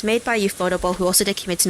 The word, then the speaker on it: ufotable: us i can't say ufotable by accident um i used to call it that before i found out it was actually pronounced as ufo table um i should check